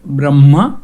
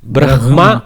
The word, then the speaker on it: Brahma: This is pronounced as Brahma or Brahma, Brahma. Both are okay.